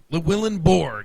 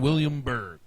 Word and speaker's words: Willenborg: number seven Joshua willenburg willenborg I've been saying williamburg wisberg wber wat bgs doesn't matter been saying it wrong appreciate help from Ryan